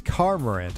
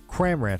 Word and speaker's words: Cramorant: Or Cormorant. It's Cormorant, I think. Or Cramorant? Cramorant, I think is how you say that.